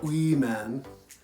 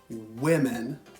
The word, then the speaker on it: women: hear a lot of students say even or we men they don't get that what sound at the